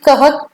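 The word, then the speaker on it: कः: आप देख सकते हैं कि कह, कह, इसका इंग्लिश का उच्चारण है के ए एच, इसे लिखा जाएगा के ए एच, कह, कह।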